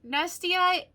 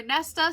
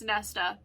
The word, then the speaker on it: Nesta: maas even though technically nasty i or nesta sorry i keep pronouncing that wrong and somebody did point that out i do apologize it's nesta she technically is a